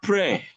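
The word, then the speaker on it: prêt: Then we have pray. Pray. Good. Pray. Exactly. Pray. That T is silent there.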